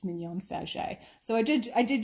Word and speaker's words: Mignon Faget: out to me and asked me how you pronounce it so you know everything's very frenchy in new orleans it's mignon fagi so i did i did just want to